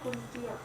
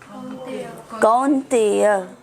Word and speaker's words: कौन्तेय: मात्रा वर्षास तो कुंतिया। एस के ऊपर इश आता है, स्पर्शास्तु नहीं है, स्पर्शास्तु। श स्पर्शास्तु, कुंतेय नहीं है, आओ कौन्तेय।